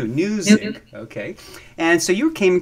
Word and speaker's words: Newzik: Newzik, spelled with an N, as in new, brand new, Newzik.